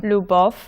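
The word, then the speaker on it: любов: you should pronounce it you should put your tongue on the top of your roof loo and kind of make oval shape with your lip new buff and then the second syllable is pretty calm pretty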